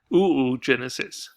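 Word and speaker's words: oogenesis: talk about the eighth so the egg is ooh Genesis who Genesis so he's pronounced and that's how well that's what my anatomy teacher taught me ooh Genesis okay site new Genesis so this is we're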